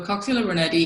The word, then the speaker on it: Coxiella burnetii: Did I pronounce it correctly? - Coxiella burnetii, yes, you did.